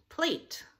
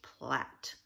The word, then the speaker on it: plait: there Platt to me it looks like it should be pronounced plait but it's actually pronounced Platt now she had a